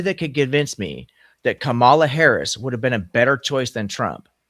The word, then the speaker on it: Kamala: So, okay, so it's Kamala. Kamala.